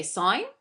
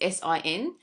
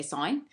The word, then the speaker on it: sin: long version we say sign for sure it's s-i-n a lot of students pronounce it as sin but it's actually you still say sine the second one is